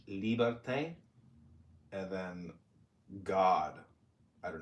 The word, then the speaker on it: liberté: Liberté is how they say it in French. Liberté.